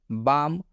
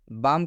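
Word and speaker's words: balm: एम आता है तो इस एल का उच्चारण हम लोग नहीं करेंगे।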